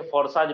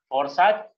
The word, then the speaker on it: FORSAGE: Spelling है FORSAGE फ़ोर्साज या इसको फ़ोर्सेज भी बोल सकते हैं।